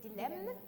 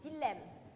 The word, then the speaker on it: dilemme: de Sénégalais qui ont tendance à prononcer Dilem alors qu'on dit un dilemme donc ça s'écrit d